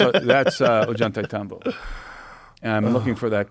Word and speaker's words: Ollantaytambo: Oh, Ollantaytambo. Ollantaytambo. How do you spell it?